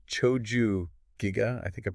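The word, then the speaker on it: Chōjū-giga: with these scrolls called Choju Giga. I think I'm pronouncing that right. Yeah, Choju Giga.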